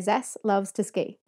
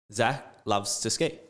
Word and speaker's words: Zaslavsky: When I was teaching, I would just say Zas loves to ski. Try it again. Zas loves to ski.